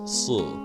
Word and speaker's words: Si: It is pronounced as Si. Your lips slightly draw in and back. Slightly close the jaw, but keep a small opening between the teeth.